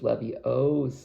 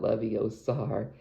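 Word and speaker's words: Leviosa: she has some great lines like it's you're mispronouncing it it's Levy OA not Levi Oar I mean it's it's such a it's such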